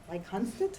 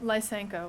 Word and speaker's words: Lysenko: the uneasy implementation of Lysankot science, is that correct? How do you pronounce it? Lysenko. Lysenko, thank you, science in the Soviet